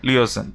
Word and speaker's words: liaison: सो सही स्पेलिंग होती है that is LIAISON, right, LIAISON, लिएजन।